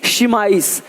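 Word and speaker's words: chemise: के देख रहे हो यहाँ पे शीमिज में क्या है? यहाँ पे केमिज नहीं है, शिमाइस, शिमाइस।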